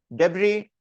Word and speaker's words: debris: D E B R I S is pronounced as debris.